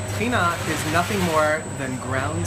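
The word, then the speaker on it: טחינה: Well, here in Israel, one of the places where it started, it's called tchina. So tahini is the American pronunciation, but in Israel, in Hebrew, we pronounce it tchina. Tchina is nothing more than ground sesame paste.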